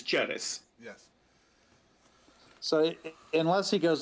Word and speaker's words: Ceres: It would be pronounced in ecclesiastical Latin as Ceres.